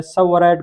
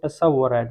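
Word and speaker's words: tsavorite: एक को हम बोलते हैं सबवराइट गार्नेट, टी से शुरू होता है लेकिन टी यहाँ पे साइलेंट होता है। अक्सर लोग यहाँ पे भी प्रोनाउंसिएशन में गलती कर देते हैं, वो टसवराइट बोलते हैं, हालांकि ये सबवराइट गार्नेट है।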